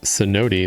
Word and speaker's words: cenote: Actually pronounced cenote.